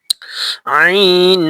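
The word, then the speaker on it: عين: উচ্চারিত হয় আইন হা আইন হা দুই নাম্বার মাখরজ হলকের মধ্যক কান হইতে উচ্চারিত হয় আইন হা আইন একটু কঠিন গলা চিপা দিবেন এবং সঠিকভাবে উচ্চারণ করার চেষ্টা করবেন।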